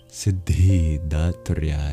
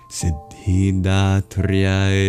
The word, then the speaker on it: Siddhidhātri: You really do pronounce each D. And in effect, it works out to a slight pause between the syllables. Siddhi, siddhi, rather than just siddhi, siddhi, siddhi, siddhi, siddhi. Siddhidhātri Namaha.